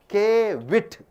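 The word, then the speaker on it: caveat: You pronounce it as Kevit.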